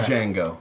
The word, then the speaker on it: Django: Django, by the way. Whatever. No, I'm kidding. I know it is. On the D is silent.